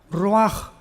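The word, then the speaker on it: ruach: La CH en el hebreo es como J, Roach, que significa espíritu.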